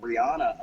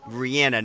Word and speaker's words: Rihanna: Rihanna, not Rihanna. That's how she says it. Rihanna. And there was like a news story from like the Today Show or something where they said like people have been saying her name wrong all these years. I'm like, well, I've been saying it right, but I listened to how she said it because it's her name.